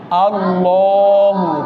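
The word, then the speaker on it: اللهُ: আমার ভিডিওতে আগেও আমি বলেছি যে আল্লাহু শব্দের আগে যদি জবর বা পেশ থাকে তাহলে অবশ্যই আল্লাহু শব্দের লামটাকে কিভাবে পড়তে হবে? মোটা করে পড়তে হবে। উচ্চারণটা কিরকম হবে? আল্লাহু।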